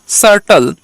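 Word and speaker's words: subtle: না আমরা ভালো করেই জানি তাহলে জাস্ট হলো সার্টল এবার এখানে একটু বলে রাখা দরকার আমরা বলেছিলাম যে টির উচ্চারণটা কিন্তু এখন থেকে আমরা কি করব একটু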